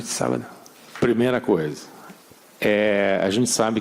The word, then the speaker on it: sábado: And I just wanted to return the favor by saying, Boa sorte no sobaio. Did I say it correctly? Sábado.